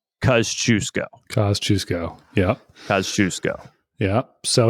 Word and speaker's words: Kościuszko: things they did was give us a lesson on how to pronounce his name kusco yeah because we C I came in with I don't know how I pronounced it I know John's first time pronouncing it wasn't right I mean it it's it's a hard one to do and so we got it from the experts I I I can confidently say that we are now pronouncing his last name right kusco kusco yeah kusco